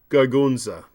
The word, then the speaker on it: Gargunza: Gargunza, Dr. Fabian. It's only 3 syllables.